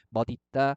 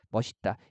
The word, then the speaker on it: 멋있다: 두 가지 발음을 다 허용하죠. 그래서 맛있다, 맛있다. 그죠? 대표음으로 발음한 다음에 연음하는 것도 허용하고요. 시옷을 그대로 연음하는 것도 허용을 해요. 그다음에 멋있다, 멋있다.